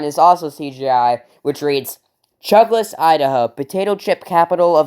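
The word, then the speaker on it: Chuglass: town called Chugless well in the movie it's spelled c h u g l a s s but in the movie it's pronounced Chugless like you're Chugless dude I don't know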